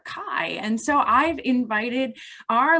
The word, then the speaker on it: chi: be with you so x is actually a chi or key depending on how you pronounce it and it developed in early christian tradition that the kai could be used in